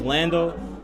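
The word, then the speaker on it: Lxndo: saying but yeah uh my name is Lando spelled it's spelled differently it's LX ndo everybody used Lando already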